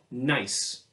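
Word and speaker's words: gneiss: this kind of rock we call nice now that's spelled with a G so it looks like you would say good nice let me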